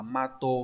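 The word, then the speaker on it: 的: Đọc là gì nhỉ? Đọc là mato, là cái tấm cái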